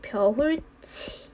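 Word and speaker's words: 벼훑이: 실제로 최종 발음도 우리가 잘 모를까봐 평가원에서 이렇게 벼울치라고 제시를 해 주었습니다. 그럼 이 단어는 그냥 명확하게 벼울치 라고 해주시면 됩니다.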